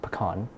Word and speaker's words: pecan: It's pronounced pecan.